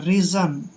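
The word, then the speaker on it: reason: दोस्तों आर का उच्चारण रे करते हैं, ई को ई की मात्रा पढ़ते हैं, और एस से पहले जब भी ए आता है तो एस का उच्चारण जय करना है, और ओ एन को न पढ़ते हैं, रीज़न।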